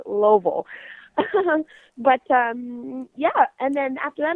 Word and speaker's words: Louisville: I always call it Louisville, but I got a crash course on how to say it properly. Just put your fist in your mouth and say Louisville.